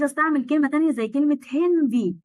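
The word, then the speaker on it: Handy: طب أنا مش عايز تليفون وعايز استعمل كلمة تانية زي كلمة هندي، هي مش هاندي اللي بيستعمل قواعد نطق، واقول لك قواعد النطق اغلبها ما بتطبقش اصلا عشان الجلطات. مش هاندي نوما، اسمها هندي.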